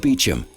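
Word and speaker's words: Beauchamp: But there's an unfortunate twist for George Beecham. His name doesn't look anything like it's pronounced.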